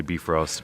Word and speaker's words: Bifrost: say always babe roster by Frost I believe the the original Norwegian word in the dialect you would say be frost but we'd like for